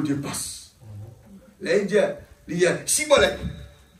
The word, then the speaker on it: shibboleth: Là, il dit, Chibolette. Et la prononciation là, c'est marque ça H là-bas. Et là, chi et si, pas pareil. La différence, c'était le H.